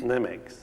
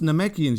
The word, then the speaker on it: Namekians: Nemeks. And what did that lad say? That's not how you pronounce that word. It's pronounced Namekians, you dumb shites.